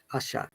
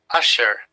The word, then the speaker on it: usher: are is not there asha which is why we called british english is non-rhotic and american english is